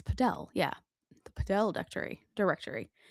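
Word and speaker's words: Padel: The Podell, it's Podell.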